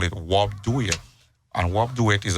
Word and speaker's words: wobe: Yeah, and with Creole, the first word is like dress in French.